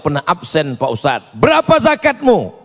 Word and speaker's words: zakat: Yang paling tinggi namanya za zakat, bukan zakar. Zakat.